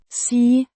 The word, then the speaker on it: sig: Imperative form of Sige. to say, pronounced Sig. similar to the English word see.